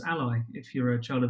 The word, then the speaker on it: a11y: a and the y therefore a 11y which also nicely phonetically you can pronounce as ally if you're a child